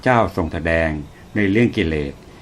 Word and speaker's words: กิเลส: ชมรม บ้าน ธรรมะ มสธ กิเลส เป็น คำ ภาษา บาลี อ่าน ออก เสียง ตาม ภาษา บาลี ว่า กิเลสะ อ่าน ตาม ภาษา ไทย ว่า กิเลส หมาย ถึง เครื่อง เศร้า